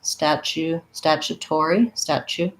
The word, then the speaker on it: statutory: And I would say you can say U, statutory, but we often will reduce that more to a ya. So statua, that's one syllable. And then tori, we have to do our clear or and our E, statutory. We say this T sound, statutory.